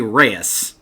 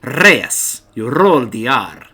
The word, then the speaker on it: Reyes: by my father you know how to properly pronounce certain words you know like in his case you don't say Reyes you say Reyes you know that's how you properly say his